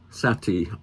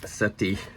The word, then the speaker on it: Sätty: McKenna and um features lots of Sati art not setti and this is a